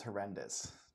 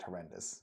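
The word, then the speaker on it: HoRNDIS: driver, um he decided to name his project horrendous. And it's kind of spelled it's spelled horn hornis but it he says it's pronounced horrendous because he hates endis and arendis and uh the whole stack.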